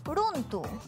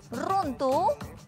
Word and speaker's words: runtu: En caso una palabra inicie con la R, su pronunciación siempre va a ser suavecita. ¿A qué me refiero? Por ejemplo, runtu. En lugar de decir runtu con intensidad, lo decimos suavemente.